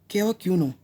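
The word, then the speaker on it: cavaquinho: इसका प्रोनाउंसिएशन होगा कैवाक्यूनो, कैवाक्यूनो ट्यूनिंग।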